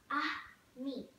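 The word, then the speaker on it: ami: you say friend in a me the word is how do you say friend in French the word is a me my mom says you say it like this ah me I love French everything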